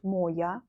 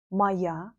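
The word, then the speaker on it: моя: repeat after me so feminine not moya maya neutral mayua it will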